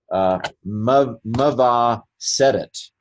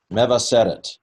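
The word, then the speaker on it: מְבַשֶּׂרֶת: The second to last syllable is where the accent goes, I believe. And so it's meva seret. Meva seret.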